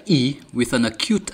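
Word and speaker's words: è: When the letter E has a grave accent, it is pronounced E, as in echo.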